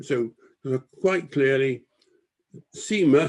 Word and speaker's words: Cima: But you'll notice here that the enlistment clerk has written very clearly Seymour, yeah, and crossed it out. And that was his mother's name. So quite clearly, Cima, C-I-M-A, is pronounced Cima, not Cima.